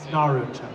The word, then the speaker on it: Naruto: You know, I'm like, it's Naruto.